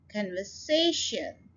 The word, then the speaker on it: conversation: अब ये देखिए ये लंबा लफ्ज है, इसके अंदर 4 सिलेबल हैं और स्ट्रेस हमने थर्ड सिलेबल के ऊपर डालना है. कन्वर्सेशन, conversation, so say के ऊपर आप स्ट्रेस डाल रहे हैं. conversation.